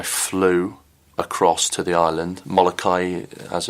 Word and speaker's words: Molokai: later and I flew across to the island Molokai as it's pronounced to Oahu as that is the swim